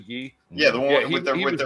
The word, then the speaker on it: Guy: You know, everybody mispronounces it as Guy, but it's actually Guy.